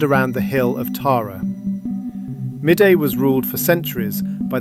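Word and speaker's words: Mide: The Kingdom of Midday, pronounced Meath, was a medieval Irish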